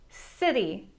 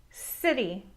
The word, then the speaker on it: city: If the letter that follows a C is an E or a Y then the C is pronounced as a soft C.